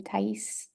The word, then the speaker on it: Tais: That's the pronunciation of my name, Tais. It's Brazilian pronunciation, I guess.